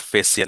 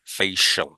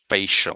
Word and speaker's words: facial: যখন আমরা সালুনে যাই তখন কি করি এটাকে, সরি, বলি ফেসিয়াল করে দেন, that's not ফেসিয়াল, ইজ ফেশিয়াল, ফেশিয়াল, facial, right? Facial, I উচ্চারণ হবে না।